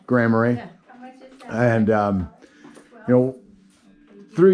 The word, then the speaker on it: Grand Marais: know a place like grand marais did i say it right by the way yeah grammary and um you know